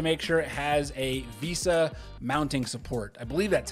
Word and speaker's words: VESA: So if mounting your monitor is something that you want, check the specs to make sure it has a VESA mounting support.